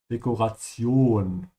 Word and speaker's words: Dekoration: Try to stretch the O here at the end. Dekoration.